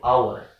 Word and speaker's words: hour: Ini tidak dibaca bunyi bacanya, ini bukan lagi h. Kita perhatikan h ini kan tidak masuk daripada vokal a, i, u, e, o, tapi dia masuk pada konsonan. Tetapi cara bacanya kata ini adalah vokal, bunyinya vokal, yaitu hour.